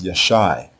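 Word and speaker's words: ישע: The letter Ga is a long I vowel here and not the guttural consonant because it is not the first letter of the word. So we pronounce the verb as Yashai.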